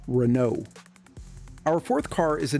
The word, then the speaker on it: Renault: up in the US always heard this brand pronounced Renault but it's actually pronounced Renault our fourth car is a Nissan 300 ZX